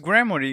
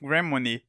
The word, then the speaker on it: Gremory: brand money first phase the absolute last place on this list hey guys real quick turns out just grammary instead of Gremlin I've been saying it wrong for years no cool how this